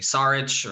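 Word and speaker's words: Šarić: interested in Dario's us I never pronounced his name correctly sarich or it's um you got it right I got it right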